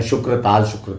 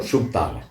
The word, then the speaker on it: शुकताल: एक बोर्ड आएगा शुकतालगढ़, हालांकि लोग उसका गलत उच्चारण करने लगे, शुक्रताल और शुकताल है, प्रसिद्ध स्थान है शुकताल, वो मैं आपको बताऊंगा।